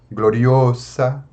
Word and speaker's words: gloriosa: Então vamos ver qual é a penúltima sílaba. Nós temos sa, é a última. A penúltima é o. Gloriosa, gloriosa. Então é simples, tá, meus caros?